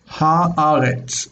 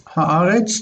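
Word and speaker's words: הָאָרֶץ: When we have a word like eretz, earth, we have ha, eretz. For whatever reason historically, the eretz becomes aretz. And the aleph, of course, rejects the dagesh, which comes down as a lengthened vowel here. Haaretz. Haaretz, the earth.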